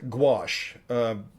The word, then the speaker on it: gouache: of mineral spirits the third one are it's pronounced gouache it's it's a it's a French French term